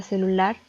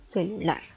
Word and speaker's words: celular: después tenemos la palabra celular que igualmente está dividida en tres sílabas en las isla va tónica recae en la última celular después tenemos la palabra